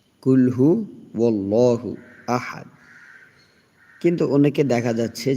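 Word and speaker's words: قُلْ هُوَ اللَّهُ أَحَدٌ: কুলহু আল্লাহু আহাদ। অনেকেই এখানে কি বলে? কুলহু আল্লাহু বলে। কিন্তু এখানে আল্লাহু হবে না। এখানে ওল্লাহু হবে। কুলহু ওল্লাহু আহাদ।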